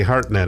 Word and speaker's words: Hartnett: Hartnett, yes. Okay, well, it's spelled absolutely wrong.